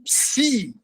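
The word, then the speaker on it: Ψ: E por o penúltimo é o Psi, que é o PS no grego.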